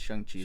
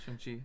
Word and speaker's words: Shang-Chi: Black Widow, and now Shang-Chi. Or Shang-Chi. Yeah. Technically it's Shang-Chi. Shang-Chi, makes it a point to... Yeah, Shang-Chi.